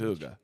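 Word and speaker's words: hygge: h y g g e h y it's pronounced Huga okay H it means like coziness but Denmark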